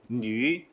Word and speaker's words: 女: 이 뉘 발음이 특히 우리가 이제 한국어에서는 이 위 발음이 위를 발음하면서 입술이 열리게 됩니다. 저기 이제 참조 맨 아래에 보시면 한국어는 위장, 위치, 위기 할 때 입술이 다 열려버립니다. 위 하면 입술이 열리죠. 근데 중국어는 뉘시 열리지 않은 상태에서 발음이 끝나고 그 다음 발음으로 넘어갑니다.